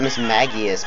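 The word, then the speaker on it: Mismagius: never pronounce it cuz the show calls it Miss magius but that's like a name who would call it that's just I call it Miss Magus though like a mage yeah Miss Magus or miss magias that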